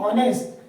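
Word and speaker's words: honest: ले आएंगे ए इज एच H silent है ओ तो नेस्ट ये एच जो है एच साइलेंट है और आवाज दे रहा है ओ आ की ऑनेस्ट तो यहां लिख के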